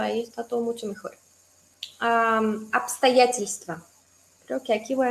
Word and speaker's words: обстоятельства: Bst, pero en realidad la B se lee como P, entonces es un poco más fácil.